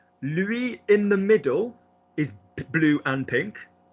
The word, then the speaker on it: lui: Remember, nice accent on the diphthong. Lui. Remember, lui in the middle. Spanish, wasn't it? Completely Spanish. Lui, no, because everybody uses L because you think of like L, like in Spanish.